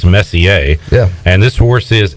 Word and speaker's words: Messier: Now you have, I believe, I'm going to pronounce this Messier, as in Mark Messier. It could be Messier, but I believe it's Messier.